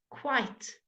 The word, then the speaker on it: quite: Quite. Quite, okay, quite. The qu sound is something that might be new to some of you. Qu. It's not k, it's qu, quite.